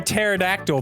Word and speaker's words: pterodactyl: can't you hear a pterodactyl pee I had to know the answer because the p is silent sure is English man